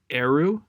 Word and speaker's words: Eru: Okay, so we finally get to the mystery of the uncle and all that, and how do you pronounce her name? Ari? Avery? I'm looking. Eru. Eru, that's it.